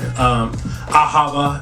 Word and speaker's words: Ahava: like a Hebrew word Ahava is how they pronounced it in Jewish tradition but um the the